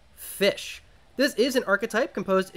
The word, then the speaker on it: Ghoti: a bit of a pun you see the goatee archetype is actually supposed to be pronounced fish this is an archetype composed exclusively of fish